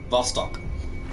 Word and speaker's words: Vostok: Vostok. Vostok. Hmm. Like Vladivostok.